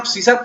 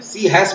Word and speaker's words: C#: सी हैश बोलते हैं, लेकिन वो सी शार्प प्रोनाउंस करते हैं।